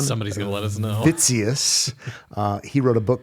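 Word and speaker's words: Witsius: introduction to Hermon Vitus spelled with a W I think it's pronounced with a V but Hermon somebody's gonna let us know fitus uh he wrote a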